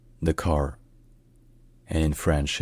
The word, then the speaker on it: Dakar: hello Dr hansang here the car is the capital and largest city of Syle known for its vibrant culture historical sites and economic importance in English it's pronounced the car and in French it's the car n Nar